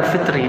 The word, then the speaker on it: fitr: Al fitri atau zakatal Fitri dua riwayat sedekah fitr enggak ada laf lafaz Fitrah enggak ada lafaznya Fitri enggak pakai ya ya zakatul fitr maka orang Arab bacanya fitr jadi itu Kalimat pertama